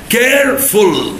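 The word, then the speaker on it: careful: كيرفول فيها كام سيلابل؟ 2. اللي قال 3 غلط، لان الاي ما اتنطقتش.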